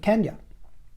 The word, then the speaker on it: Kenya: And this wedding was in Kenya. And I do understand, before anybody interjects, that it's the colonial vogue is to call it, to pronounce it Kenya, which is fine.